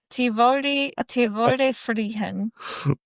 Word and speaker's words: Tivoli Friheden: Tivoli Friheden. Do not pronounce the D at all. No. Oh, okay. Yeah. Tivoli Friheden.